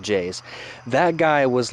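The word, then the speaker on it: JAYZ: named J's on it J a Y Z pronounced not pronounced J Z as pronounced J's that guy was like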